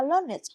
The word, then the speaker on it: learned: The "-ed" is pronounced as /ɪd/. Phát âm thay đổi, phần "-ed" đọc là /ɪd/ A learned scholar is not simply someone who has learned something.